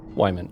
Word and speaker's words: Wyman: Wyman. Okay, that is how, that's how you pronounce it.